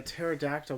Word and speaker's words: pterodactyl: can't you hear a pterodactyl go to the bathroom because the P is silent if I never had